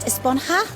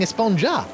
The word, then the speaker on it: Esponja: Actually, it's pronounced Esponja with an H sound at the end. Really? But we've all been saying Esponja.